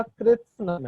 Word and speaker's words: कृत्स्नम: देखो यहाँ पे बोलते हैं, सही उच्चारण उसका कृत्स्नम है।